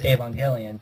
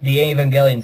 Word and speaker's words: Evangelion: Well, yes, but it's spelled word, Evangelion, and it's usually pronounced Avon and then Gelion.